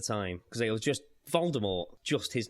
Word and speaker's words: Voldemort: Rowling previously stated that the T in Voldemort is silent, as it is in the French word for death, mort.